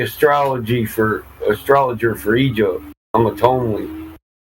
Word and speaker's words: Ptolemy: I'm a Tomely. You don't pronounce the Ptolemy? I pronounce it Ptolemy. Not just yes, the P is not silent. You have to say it. No, it's silent. Ptolemy. It's Tomely. Yeah, there we go.